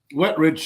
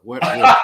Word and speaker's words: Wetrich: asked, is it pronounced Wetrich? Wetrich, yeah, it's just two words put together, Angelo. It's the opposite of dry and poor. Wetrich.